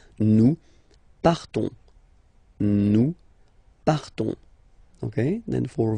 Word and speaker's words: partons: So classic ending ONS, you don't pronounce the S, you just have this on sound nasal. Nous partons, nous partons, okay?